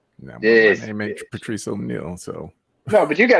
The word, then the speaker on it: Patrice O'Neal: the way that said you said it wrong you got to say like Patricia Neal this Patrice O'Neal so no but you